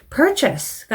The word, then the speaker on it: purchase: purchase가 나왔는데 요거는 purchase라고 잘못 읽으시는 분들이 꽤나 많아요. purchase 아니고 purchase라고 읽어주시면 되겠습니다.